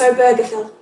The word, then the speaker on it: Obergefell: And people wanting to say Obergefell, I did look up how to pronounce it. Donc j'ai bien regardé comment prononcer le nom. It's Obergefell.